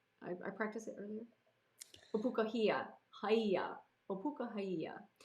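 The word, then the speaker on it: Ōpūkahaʻia: Opukahia. Henry Obukaya is what he was called for short when no one could pronounce his name, but Opukahia.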